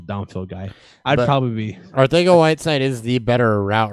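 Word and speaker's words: Arcega: Aguilar, Hollins, and Ortega Whiteside, which I found out it's pronounced Ortega last night, filled in.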